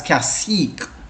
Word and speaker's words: CSEC: It's pronounced as CSEC.